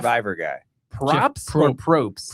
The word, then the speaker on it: Probst: Props Jeff or Probst? Prost. Probst. Yeah, the B is silent. Oh, for, Prost.